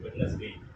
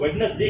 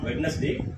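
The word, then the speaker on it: Wednesday: வார்த்தை இருக்கு வெட்னஸ்டேன்னு சொல்லுவோம் வாட் இஸ் திஸ் வெட்னஸ்டே இங்கயும் டி is silent போயிரணும் சோ வெட்னஸ்டே கிடையாது இட் இஸ் வெட்னஸ்டே இதை எப்படி ப்ரொனௌன்ஸ் பண்ணுங்க வெட்னஸ்டே இட் இஸ் நாட் வெட்னஸ்டே இட் இஸ் வெட்னஸ்டே அப்படின்னு நம்ம ஈஸியா அதை ப்ரொனௌன்ஸ்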